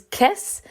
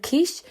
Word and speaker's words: Kiss: Now, I did talk about this briefly on TikTok, and I pronounced his name as Kiss instead of Kish because I'm an idiot who sometimes does not pronounce things correctly, and I was quickly corrected twice.